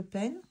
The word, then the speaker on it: Payne: ça donc je vais utiliser ce gris de peine c'est marrant que ça s'écrit de peine au début on pourrait penser